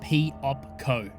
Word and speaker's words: Piopco: They are called Piopco, pronounced P-op-co.